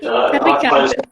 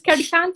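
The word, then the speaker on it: Carricante: Caricante. Perfect pronunciation, Chris. It's Caricante 100%. That's lucky, also.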